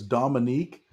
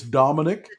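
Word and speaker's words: Dominick: I love it that you pronounce it as Dominique, because that makes me feel better, because I was calling him Dominique all the time and people were criticizing. It's Dominic. Dominic. Dominique is the female pronunciation.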